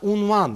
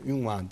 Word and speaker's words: unvan: hakeme değil evet bize unvan yine ünvan değil lise değildir de lisedir